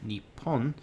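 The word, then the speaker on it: にっぽん: throwing that out there when a small two is used it means that we should we should make a short pause before the consonant coming after in this case that means that the po sound in nippon will have a small pause followed by a stronger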